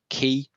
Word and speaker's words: quay: have an image repository called key it's spelled q-u-a-y as in the things that you pull up a boat next to and if you hear any american presentations you will hear the word quay but i think the